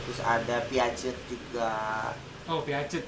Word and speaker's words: Piaget: Oh, Piaget bacanya.